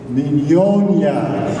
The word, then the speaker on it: Mignogna: The pronuncia in Italiano si dice Mignogna. And he still doesn't know how to pronounce it.